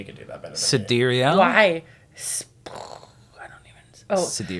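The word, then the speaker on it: Sideræl: newborn Exa Dark Sidera Musk shared that the correct phonetic pronunciation of the daughter's name is Sidir El. Actually, you could do that better. Sidereal.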